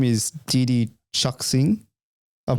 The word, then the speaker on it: Chuxing: Okay, it's Chuxing. That's their full name, the full company name. Oh, so it's Chinese. It's Chinese, yeah. When you said sing, I thought it was S-I.